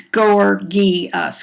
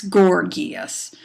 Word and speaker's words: Gorgias: Again, his name is pronounced with the hard G's, Gorgias, Gorgias.